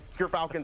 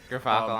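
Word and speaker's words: Gyrfalcon's: We That's- actually, off screen, we're figuring out how it's pronounced. But Gerfalcons, everyone. So anyone who mispronounces it, that's how you say it. Gerfalcons.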